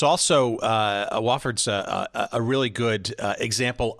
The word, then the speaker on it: Wofford: never heard of it I actually pronounced it Wilford but it was actually Wofford and I came down